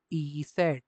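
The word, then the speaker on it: Eszett: double S लिखना है तो उसको उसका जो प्रोनाउंसिएशन रहता है उसको आप लोग क्या करके बोलोगे हमेशा ई सेट क्या बोलेंगे आप हमेशा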